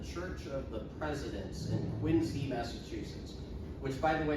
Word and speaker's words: Quincy: They are entered in the church of the presidents in Quinsey Massachusetts which by the way is pronounced like a z sound or zoo or a zipper not quincy.